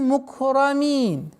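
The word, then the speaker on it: ٱلْمُكْرَمِينَ: Ва джа'алани минал мукрамин. Минал. С огласовки фатха мы уходим на лям. Минал мукрамин. Ра твердая. При произношении каф нужно договаривать. Мукрамин. При остановке фатха аннулируется, переходит в сукун.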